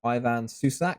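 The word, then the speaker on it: Ivan Šušić: Okay, our first Croatian League keeper, we have Ivan Susic, who plays for Slaven Koprivnica.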